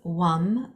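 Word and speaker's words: Vam: chakra the sound is wam spelled v m pronounced with a W according to my English ears my uh Western ears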